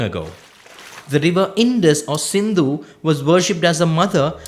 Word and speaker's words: Sindhu: The Persians who came to India had heard of the fabled Sindhu river. Except that when they pronounced it, they dropped the S and called the river Hindu.